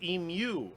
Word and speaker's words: emu: Americans also pronounce it, you pronounce the U too hard. It's emu.